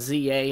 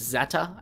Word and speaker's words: Z-A: it and it is Zeta and that actually makes sense because that is the the Greek Alphabet letter you know Zeta so this makes a